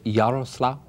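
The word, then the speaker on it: Jarosław: I must ask you for the correct pronunciation. Is it Yaroslav, Austria?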